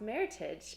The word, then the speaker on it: Meritage: a mix of the bordeaux grapes and and pronounced Meritage and it's really funny when you say Meritage